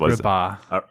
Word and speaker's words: Agrabah: How is it pronounced? Agrabah. Aragaba.